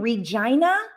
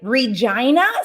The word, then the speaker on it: Regina: and so for me i grew up in regina yeah i said it right regina saskatchewan canada right i'm a canadian look right